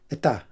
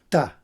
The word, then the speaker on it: está: My father-in-law says uh está pronounces it etá or tá.